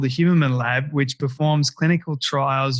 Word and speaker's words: Huberman: Andrew Huberman to the Storybox podcast today.